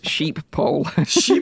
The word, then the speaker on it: Schiphol: pronounce it go ahead nathan schiphol dave says sheep pole boy